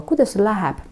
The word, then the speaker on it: Kuidas sul läheb: «Kuidas sul läheb?» «Kuidas sul läheb?» «Kuidas sul läheb?» Я произношу почти как одно слово. «Kuidas sul läheb?» Очень быстро.